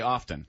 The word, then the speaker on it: often: like the word often a lot of people pronounce the T I don't I didn't